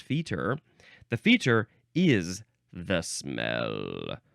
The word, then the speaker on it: fetor: feted yes feted uh so the Feer I don't know why it's pronounced Feer the Feer is the